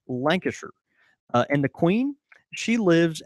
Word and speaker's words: Lancashire: style Yorkshire it's same it's the same with Lancashire it's pronounced Lancashire and the Queen she